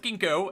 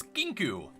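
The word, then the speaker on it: Kinkou: Kinku, by the way, not Kinko, as I always pronounce it. It's Kinku.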